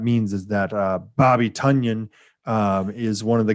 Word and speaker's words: Tonyan: a big one oh it's uh it's you're actually supposed to say tonyan doesn't yeah the news that came out yeah somehow uh the correct pronunciation he actually said this was tonyan interesting all right so